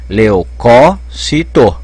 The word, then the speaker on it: leucócito: opa o parque também leucócito então acha que uma candidata já pode pôr a jeito porque ao a tonicidade está caindo no terceiro sílaba de trás pra frente alcólatra essa é uma